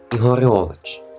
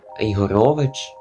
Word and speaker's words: Ігорович: Юрійович Георгій георгійвич Ігор Ігорович напевно наголос так адже це згідно з новим правописом Ігорович Ігорович а передній був і Гавчик значить Ігором ігорьом але щоб ви знали що там вже Ігорович адже тепер це віднесено